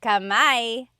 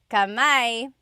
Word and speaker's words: kamay: Oh, see Adriano said kami. Kamay.